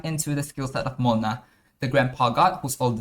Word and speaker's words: Mlynar: Hold on to your hats, because we're about to dive into the skill set of Mylnar, the Grandpa God who's older than Did. I know it should be pronounced as Mylnar in Polish, but I don't speak Polish.